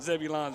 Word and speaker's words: Zebulon: you know i mean zebulon's right next to the oz right yeah yeah that's all right i can tell you one thing and it's pronounced zebulun no zebulon it's debbie lyon down there